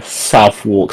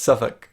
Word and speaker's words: Southwark: useful uh so my office is actually near South walk station and it's pronounced southwark which I hate this you you're near this and you Pro it's pronounced Suffolk it's pronounced great thanks English two customer's power